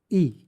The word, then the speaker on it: y: और एक चीज़ याद रखना, जब भी अगर सिर्फ इग्रेगा आता है तो इसका मतलब होता है एंड, और इसका प्रोनाउंसिएशन होता है ई। फॉर एग्जाम्पल जैसे राहुल एंड विजय, तो स्पेनिश में कैसे बोलेंगे? राहुल ई विजय।